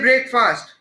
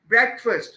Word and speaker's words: breakfast: अब इस वर्ड को लोग बोलते हैं ब्रेकफास्ट. It is wrong. It would be breakfast.